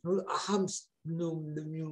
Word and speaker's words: Knut Hamsun: Recuerdo haber leído la novela Hambre de Knut, que es difícil de pronunciar, Knut Hamsun, no sé, Hamstup, sí, ese.